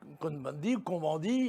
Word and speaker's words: Cohn-Bendit: Monsieur Cohn-Bendit, puisque nous sommes en France, on le prononce à la française.